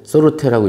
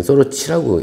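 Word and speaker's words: Sorte: 루시아 에르미니아라는 품종하고 소르테라고 읽어도 되는데 여기 소르치라고 읽나 봐요. 소르치에는 행운이라는 뜻이에요. 브라질 말로.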